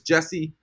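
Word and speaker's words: Geyse: Striker Winger Winger attacker her name is geesi well I say gei but I think it's wrong is I think it's Jesse the actual pronunciation is Jesse and she's amazing we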